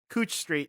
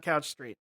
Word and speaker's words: Couch Street: In Portland all we ever talked about was the the brain smasher and how it's pronounced Couch Street not Couch Street.